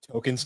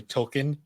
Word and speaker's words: Tolken: really funny where um they revealed that uh token's name is actually tolken like like Jr token yeah and uh they made the joke where like if you've been pronouncing it token this entire time you're part of the problem and they actually went